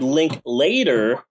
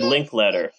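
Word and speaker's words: Linklater: to be five called five rooms and Richard link later was supposed to do a segment but he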